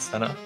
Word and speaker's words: Cena: It's Cena, not Senna. Or is it Senna? John Cena? John Cena. Either works for me.